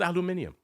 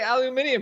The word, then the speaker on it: aluminium: top I said rolled aluminium oh okay okay I must have missed how dare you imply that I would not take the opportunity to use the British pronunciation sir I I I